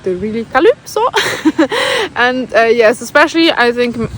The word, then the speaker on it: Calypso: people pronounce my name, because in German you pronounce the Y of Calypso, you pronounce it like an Ü. So it's pronounced Calypso, but still some people pronounce it more like an E, so sometimes it turns out like Calypso, and I don't like it that much. And in Denmark, people really say Calypso, they really emphasize the U, and I